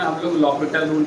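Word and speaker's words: L'Hôpital: एच जो है यहाँ पे क्या होता है? साइलेंट होता है। ठीक है, एच और एस क्या हो जाता है? मतलब साइलेंट क्या होता है? हम लोग बोलते हैं एल हॉस्पिटल को क्या बोलते हैं? लॉपिटल रूल बोलते हैं।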